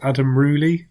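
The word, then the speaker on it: Adam Rouilly: brand of anatomical models, Adam Rooley, I think is how you say it. It's Rouilly, and they can sell for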